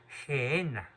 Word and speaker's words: Gehenna: En arameo, en el lenguaje que usaba Cristo, él la llamaba la Gehenna. Se escribe G-E-H-E-N-A, Gehenna.